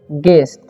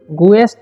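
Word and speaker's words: guest: ठीक है, here is गेस्ट। Okay, गुएस्ट नहीं पढ़ना है, यू का उच्चारण यहाँ पर UE है तो उसका उच्चारण ए होता है।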